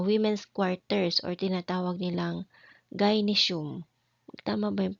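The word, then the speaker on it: gynaeceum: sila sa ah women's quarters or tinatawag nilang gyinesum. Tama ba 'yung pagkakabigkas ko? Wait lang tingnan ko muna ah. Ayun tama ngaum sulat dito gy n a e c e u m ginesum ayan hirap magsulat dito Oo.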